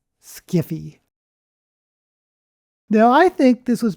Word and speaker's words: sci-fi: In the 1970s, some science fiction authors and fans made fun of the term sci-fi and pronounced it as skiffy.